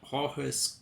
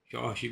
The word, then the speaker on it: Jorge: You say old Jorge's clothes don't fit? I guess you should say Jorge, because that's the way they pronounce it in Portuguese, not Jorge like Spanish.